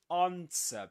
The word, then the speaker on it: answer: So, yeah, this is um answer. You don't pronounce the W, the W. Okay? Just like in sword.